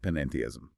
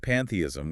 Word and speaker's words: panentheism: This is the textbook definition of panentheism. Panentheism. Notice the extra syllable there. It is not pantheism where God equals the tree.